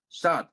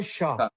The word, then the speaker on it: saw: See, there's no H. There is no H here. There's no sha. There's no shaw. Saw. Saw. Saw.